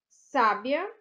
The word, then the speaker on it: sábia: leitura delas é diferente então aqui ó sabia sábia e sabia tá e nela temos